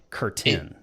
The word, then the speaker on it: Curtin: but it's curtain right not it's not like what hangs on the windows it's it's Curtin yeah anyways it's amazing